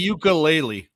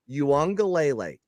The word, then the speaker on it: Uiagalelei: It's I don't- DJ I'm not a college football Uiagalelei. guy. Not you. I'm I'm talking not a about college people football that guy. are college It's football DJ guys. Ukulele. Okay. No, it's Uiagalelei.